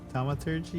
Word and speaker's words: Thaumaturgy: It's called I don't even know how to pronounce this. Let me see. Thaumaturgy? Thaumaturgy? Mhm. Thaumaturgy, yeah.